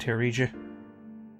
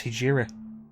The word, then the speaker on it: Hijiri: The world's ended, Hiriji. I've been saying your name wrong, it's Hijiri.